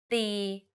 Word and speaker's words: ตี: For example, ติ and ตี The first word ติ with the shorter sound means to criticize. If you say it a bit longer, ตี it means to hit.